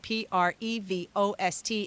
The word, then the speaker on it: Prevost: Now, keep in mind, It's Codie, and then it's Prevost, but with the ST on the end, which is silent. Prevost.